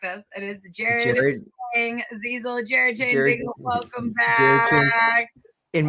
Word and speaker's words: Jared Chiang-Zeizel: It is Jared Chiang-Zeizel.